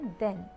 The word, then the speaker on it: then: वो है हमारा दैन एंड देन। ध्यान रखिएगा, इसमें प्रोनाउंसिएशन का थोड़ा डिफरेंस है। एक है दैन और दूसरा है देन।